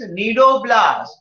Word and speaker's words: cnidoblast: The cell name is cnidoblast. C is silent. The spelling starts with the C, but we don't speak the C.